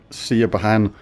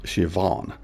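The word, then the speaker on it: Siobhan: I've heard really weird pronunciations of this like sahan and things like that but it's a it's an Irish name. The B&H is pronounced as a V. So it's um Shivan.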